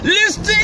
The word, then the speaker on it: listen: Yeah, well, when I say listen to me! Listen, that's another part of the silent letter T.